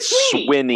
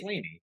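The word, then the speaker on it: Swinney: Alabama number three uh Dabo Sweeney and Clemson uh at least I think you're gonna I said swimming I said it's Sweeney I thought it was sweet I think I'm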